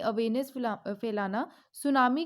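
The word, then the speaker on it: tsunami: जिसका नाम है वर्ल्ड सुनामी डे या बेटी जो है वह साइलेंट रहता है इसको सुनामी के नाम से जानते हैं वर्ल्ड सुनामी के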